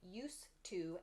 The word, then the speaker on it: used to: Basically, when we're speaking quickly, or I suppose even not quickly, we tend to pronounce used to as used to.